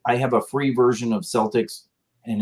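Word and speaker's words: Celtx: I haven't written in a couple of years, but I used Celtics. Yep, that's what I use also. Celtics. But it's spelled with a C. Yeah. As in like Celtic, right?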